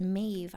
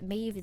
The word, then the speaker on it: Maeve: So I went with Maeve the Ave because Maeve is an Irish name. And it's actually used in one of my favorite films ever. And it also rhymes with Ave, and Ave is what birds are.